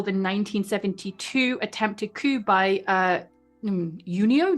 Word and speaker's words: Giunio: 1972 attempted coup by Junio? Do you do the J's? Yeah, you pronounce the J. Okay, Giunio Valero Borghese in Rome, where the far right tried to seize power in the country.